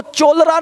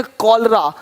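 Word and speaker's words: cholera: नहीं पढ़ेंगे केमिस्ट अब देखो चोलर नहीं पढ़ेंगे चोले इसको पढ़ेंगे कलरा कलरा हो गया देख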